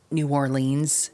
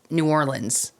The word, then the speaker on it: New Orleans: And speaking of New Orleans, I think it's funny when people like from up north pronounce New Orleans instead of New Orleans.